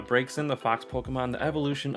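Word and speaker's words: Braixen: pronunciation of the day it is breaks in uh not brexit it is uh breaks in the fox pokemon the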